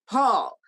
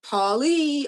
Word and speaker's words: Paule: people to pronounce it paul they always wanted to call it paulie or paula and she said no it's paul like a man and that's what i'm